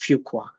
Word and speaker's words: Fuqua: uh find out how how you would pronounce fuka and the first link told me that because a few qualified it's Fuqua so it's it's it's